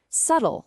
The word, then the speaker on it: subtle: We've got salmon, where the L is totally silent, subtle, where the B just vanishes, and debris without the S sound.